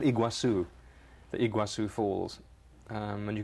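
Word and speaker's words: Iguazú: you can get there well how do you pronounce the waterfalls it's called iguazu the iguazu falls and you can get that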